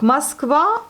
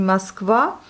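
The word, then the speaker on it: Москва: Donc Moskva, voyez, le O n'est pas accentué, il se prononce plutôt comme un A et non pas comme un O. Donc on a ici Moskva, Moskva et Moskva.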